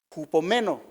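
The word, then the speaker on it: ὑπομένω: Biblia se tradujo del del griego cupom meno con acento en la e y quiere decir quedarse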